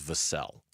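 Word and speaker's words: Vassell: of the Phoenix Suns I think you need to know how to say their name correctly cuz the first time we get Devin Vassel on the phone you need to know his name is Vel.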